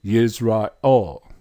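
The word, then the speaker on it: ישראל: Transliteration, Yisrael. Pronunciation, Yisrael.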